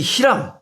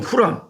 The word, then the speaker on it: 히람: 그런데 유독 이 히람, 다른 발음으로 후람, 히람이라고 우리가 통일합시다. 시방부터.